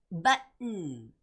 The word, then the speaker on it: button: And when you're reading the word button, it's similar to Edmonton. Button. You hear that sound? 그 소리 들리세요? Edmonton, button, button.